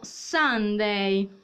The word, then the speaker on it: Sunday: sabato e poi abbiamo sunday che si pronuncia sun day ma si scrive con la u marco si scrive con